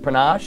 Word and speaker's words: Panache: It's not pronounced Panache. It's pronounced Panache.